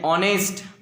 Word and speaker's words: honest: Okay, there are few words in English which begins with H, but the sound of H is silent. Yes, like honest, honesty, are.